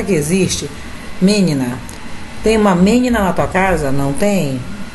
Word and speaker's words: menina: Tem uma menina na tua casa? Não tem? Tem uma meniná? Meniná, se fosse uma oxítona, também não, então é menina.